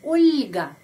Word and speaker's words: Ольга: orang ada orang Rusia Olga Olga Kalau pengucapannya Bahasa Indonesia bahasa Rusia ulga ulga Karena setelah huruf l ada tanda pelemah yang melemaskan huruf L ulga dan ada seorang laki-laki